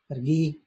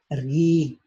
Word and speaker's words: gu: So it's pronounced ergui, I'm sorry, ergui, my bad, ergui, ergui.